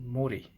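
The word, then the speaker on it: 森: This one goes by the name of Mori.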